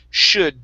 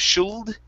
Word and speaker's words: should: last one here is should the l is silent instead of shield it's should should there